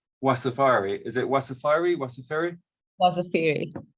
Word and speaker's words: Wasafiri: Sana Goyal is Wasafiri's, sorry Sana, I should have asked you how to pronounce Wasafiri. Is it Wasafiri, Wasafiri? Wasafiri. Wasafiri, thank you.